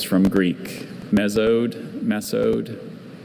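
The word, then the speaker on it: mesode: Uh, could you pronounce the word mezo? Miso. Meode.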